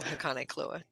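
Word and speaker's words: Hakonechloa: them yeah amethyst looks great hakone CLA oh hakone cloa yeah another Well mispronounced name yes exactly um so this Grande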